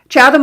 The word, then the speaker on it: Chatham: Do you pronounce it Chatham? Chadam, Ontario, Canada.